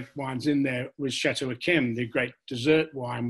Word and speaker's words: d'Yquem: in there, was Chateau Akem, the great dessert wine, which is spelt small d apostrophe capital Y-Q-U-E-M, Akem.